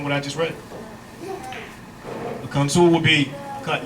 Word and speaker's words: consul: see come soon c-o-n-s-u-l I say console because that's the way it's pronounced it's not Council is it agent commissioned